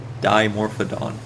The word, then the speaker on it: Dimorphodon: it doesn't sound right d m o to me sounds like or it looks like it would be pronounced demo however I do not want to say demorphed do either it is die like the the prefix for two dimorphodon but I don't want